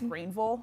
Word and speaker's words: Greenville: Just so you guys know how to say it correctly. It is Greenville. Greenville. That's what I've been told. That's when I lived in South Carolina. That's what they told me.